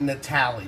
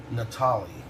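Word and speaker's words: Natale: a man that would it's not pronounced Natali's by the way it's Ralph Natalia Natalia innocent hard worker I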